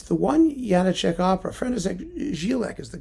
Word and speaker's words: Janáček: It's the one Janáček opera.